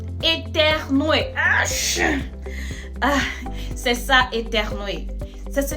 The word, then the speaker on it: éternuer: Attention à la prononciation, c'est éternuer.